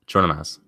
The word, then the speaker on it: Chornomaz: Remember, it's like a J sound at the beginning. Cameron will light you up. I'm going to let you do it, Dylan. What's the name? All right, Nicolas Chornomaz.